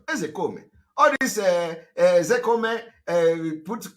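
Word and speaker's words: Ozekhome: When I want to pronounce, I pronounce it the way Igbo people are pronouncing it.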